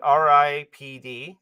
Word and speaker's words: R.I.P.D.: R.I.P.D is how they pronounce it in the movie, so that's how I'm pronouncing it.